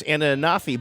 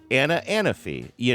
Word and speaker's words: Anafi: We volunteer together, but I think I know it's Anna Anafi, but I get nervous because when I used to have to ask my Google Maps how to get to her house to drop something off, the map pronounces it differently. Or if you have to text her or something, you're like, hey, Google, text Anna Anafi, it'll be like Anna fee, and so yeah.